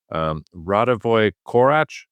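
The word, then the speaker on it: Radivoj Korać: First of all, one of our listeners wrote in and compared us to Radovoy Korach. Am I getting it right? Did I pronounce it correctly?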